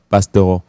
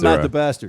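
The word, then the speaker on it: Bastareaud: pronounce his name because actually it's Matthew Bastaro. Bastaro. So it's not Matthew Bastaro. Not Matt the Bastard. Not Matthew Bastard.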